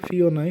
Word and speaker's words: Fiona: ফিওনাই হবে উচ্চারণটা।